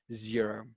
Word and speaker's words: Xero: A little bit about Xero. If this is the first time that you are introduced to this software, it's spelled with an X and not a Z.